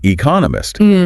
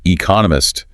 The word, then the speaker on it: economist: the emphasis goes on Economist because that's the new bit of information and they even break down how to pronounce Economist you know four syllables stress on the second one Economist I mean it's